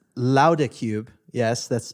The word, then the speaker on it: Låda: company and like you said Tyler the official pronunciation is louder because it's a Swedish word but we don't expect anybody to pronounce it that way so we just refer to it as a lot of cube but I will I I 100 will